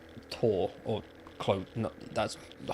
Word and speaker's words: Thor: But I imagine, because it's not Thor, is it? Because you, in Norway, you don't... TH, it's Tor, or Clo...